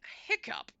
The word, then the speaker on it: hiccough: Pronounced like hiccup. Really? Hiccup has the sound of sup.